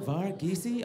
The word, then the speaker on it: Varghese: Varghese? I'm like, roll the R, last E silent.